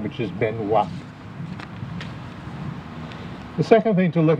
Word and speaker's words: Benoit: to mention is William Benway born in Vermont and the name that shows up on the recruitment records is a rough approximation of the French pronunciation of his name which is Benoit the second thing to